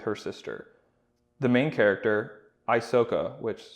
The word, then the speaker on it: Isoka: The main character, Isoka, which sounds a lot like Ahsoka. Just saying. It's actually pronounced Issoka, but sure it is.